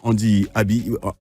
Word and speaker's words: Andy Aby: Allez, voilà, il est avec nous, le grand Andy Abi. Voilà, ça, je prononce bien.